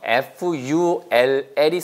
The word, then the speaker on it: full: F-U-L-L이 쓰이잖아요. 그거는 짧아요. 그거는 full. full.